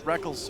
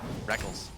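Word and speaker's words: Rekkles: m tournament IPL 5 the reckles and Reckless debate was in full swing I still want to call him reckles but I'm just gotten so used to calling him Reckless because he says so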